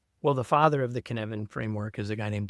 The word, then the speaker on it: Cynefin: right, is it the Cynefin? Cynefin. It rhymes with Kevin.